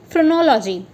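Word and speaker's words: phrenology: आप, इसे हम कहेंगे फ्रोनोलॉजी। सो फ्रोनोलॉजी को प्रोनाउंस कैसे करेंगे, FRUH, फ्रो, न्यो, लॉ और जी तो आपको पता ही है, ये U है, ठीक है, LUH।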